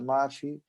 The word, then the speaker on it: Maffy: a África do Sul, seja pronunciada Mafi.